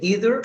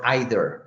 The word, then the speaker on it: either: You can say either or either, okay? Either good is either way is right to pronounce.